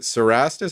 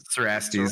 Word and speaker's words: Cerastes: Is it Cerastus? How do you say this guy's name? Cerastes, yeah.